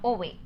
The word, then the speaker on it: Ove: Until I watched the movie, I thought the pronunciation of the name was Ove and not Ove.